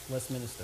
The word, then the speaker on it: Westminster: To correct them and be like, Westminster? Yeah, down in Westminster. There's not an extra I. Why? You're from here. Westminster.